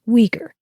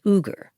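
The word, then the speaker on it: Uyghur: very basic thing Google uger or you may have heard it pronounced weager esma is uger a Muslim minority that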